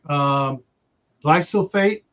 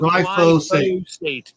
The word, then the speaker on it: glyphosate: Glyphosate. Oh, glypho, like PHO. Glyphosate. There you go.